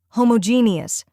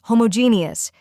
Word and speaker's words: homogeneous: repeating after me homogeneus now a little faster homogeneous and at full speed homogeneous keep practicing and soon this word will feel